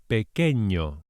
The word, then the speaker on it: pequeño: And small or little is pequeño. Pequeño. The wavy line known as the virgulilla on top of the N turns the sound into a ñ, as in onion or España, ñ, pequeño.